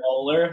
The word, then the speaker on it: Moeller: It's actually No. molar, like the tooth.